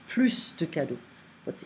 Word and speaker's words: plus: Plus de cadeaux. It's not like more gifts, it's like no more. Donc, we don't pronounce the S here.